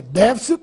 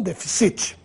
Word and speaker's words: déficit: Só que a leitura é déficit e não deficit.